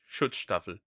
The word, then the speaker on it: Schutzstaffel: That's the right pronunciation. Schutzstaffel.